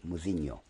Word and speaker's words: Mouzinho: If it's spelled correctly, it's M-U-Z-H-I-N umlaut O, Muzinho.